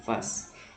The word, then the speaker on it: phase: Ya, P sama H dibaca F, jadinya bacanya phase.